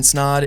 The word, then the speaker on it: Snod: My name is Snod. It rhymes with odd, and you're listening to Rhymes with Odd.